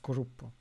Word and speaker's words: cluppo: years later she created her own project uh kurupo so it's uh spelled club but it's uh pronounced grupo so it's her signature thing yeah krupa is the sound which pigeons make in japanese